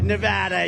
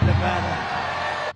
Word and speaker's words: Nevada: we love it and you always have to say it correctly Nevada you got to call it Nevada remember when Joe said